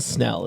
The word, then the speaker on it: Snell: And last, but certainly not least, Jason Snell is how you say it, Jason.